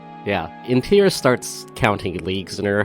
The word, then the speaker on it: Intira: Intira. R. Could you spell that?